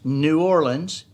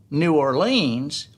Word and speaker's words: New Orleans: new orleans is that the correct pronunciation is right in the middle of two incorrect pronunciations one here's new orleans in the middle and then one is used by tourists new orleans and the other is